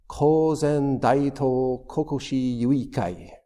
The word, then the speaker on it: Kōzen Daitō Kokushi: final instruction of dto kokushi in Japanese it's coen dao Kokosi which cozen means uh reviving Zen.